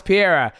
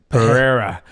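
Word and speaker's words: Pereira: name wrong I'm like Alex Pier he goes uh it's Perera then I'm likea no you're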